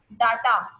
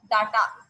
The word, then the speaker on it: data: The correct pronunciation of that word is data. Yes, that's data. Like I have written here, data. Okay. Yes, so that is data, not data.